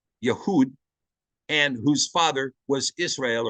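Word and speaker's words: יהודה: Judah whose father you know Jud would actually pronounced yahood yahood and whose father was Israel or yasharel this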